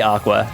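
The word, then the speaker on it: Aqours: I did say aqua. That's how it's pronounced. It's not aquars, it's aqua.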